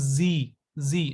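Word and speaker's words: Sie: and here he okay Z this is z z not c z I told you right IE and E the combination of i and e is pronounced as e so it is z sound similarity is there that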